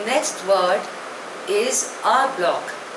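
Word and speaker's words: en bloc: the next word is आ ब्लॉक spelling is ई एन बी एल ओ C pronunciation is आ ब्लॉक इट इज a French word it means all together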